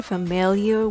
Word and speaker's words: familiar: The word has 3 syllables. F-mel-yer. Let's break it down. F with F sound and the schwa. F. Mill, like a grinder. Mill. And yer with Y sound and R sound.